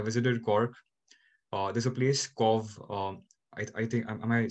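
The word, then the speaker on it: Cobh: There's a place, Cov. I think, am I saying it right? C-O-B-H. I think it's Cov. Cove, I've been there.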